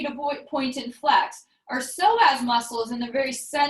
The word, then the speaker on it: psoas: So as you continue to point and flex, our psoas muscle is in the very center of our bodies.